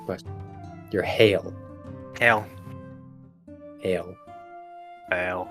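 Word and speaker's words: Haile: e Hae e but not pronounced like Haley all right Hal but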